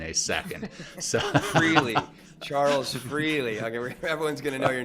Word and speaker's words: Freligh: freely here in a second so really Charles freely okay everyone's gonna know your name it's spelled f-r-e-l-i-g-h uh for those watching and listening